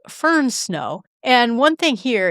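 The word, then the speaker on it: firn: Instead, it's f i r n. Fern snow. It's more pronounced uh yeah, it's just pronounced a little bit differently, but it is basically snow that survived at least one melt.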